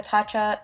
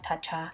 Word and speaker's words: Tatcha: going in with the tatcha sunscreen I know I say it wrong it's tasa tacha sorry but I just work